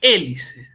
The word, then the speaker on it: hélice: el primer caso es hélice hélice es la mayor fuerza de voz cae en la e es una palabra esdrújula Entonces es e dice acá